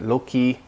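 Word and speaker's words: loci: they call in Latin in old Latin they pronounced it low-key that's from locusts like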